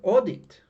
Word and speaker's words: audit: but look now here audit audit it's not a deep audit so this condition breaks because the stress does not fall on the last syllable so it's audit audits